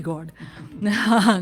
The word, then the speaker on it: गौड़: इट्स नॉट GOD गॉड, GAUD गॉड। गॉड जो है, अब मेरा प्रोनाउंसिएशन में ये गॉड जैसे सुनाई दे रहा होगा, बट गॉड इंग्लिश में लिखते हैं तो GAUD गॉड बन जाता है ये।